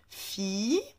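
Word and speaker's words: في: Alors, le fa bil kasra, on le prononce fi, et puis comme ça c'est une ksra, elle va être prolongée avec le ya.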